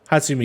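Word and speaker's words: Hatsune Miku: Hatsumiku.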